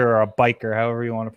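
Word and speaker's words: bichir: They kind of look like a bicher, or a bashir, or a biker, however you want to pronounce it. I'm sorry. They like don't look like a bite. First of all, it's bashir.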